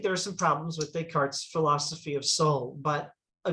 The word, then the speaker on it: Descartes: think is probably descartes so the name is spelled des cartes the scartus but you know it's a french name and the pronunciation we use is descartes so descartes is this